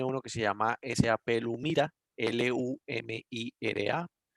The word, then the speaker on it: Lumira: SAP tiene uno que se llama SAP Lumira, L-U-M-I-R-A.